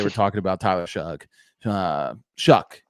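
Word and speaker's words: Shough: I want to talk about Tyler Shugg because there are a lot of people they're going to have to apologize for how they were talking about Tyler Shugg. Shuck actually is how we pronounce it.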